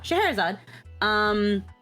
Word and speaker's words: Scheherazade: Oh, Scheherazade.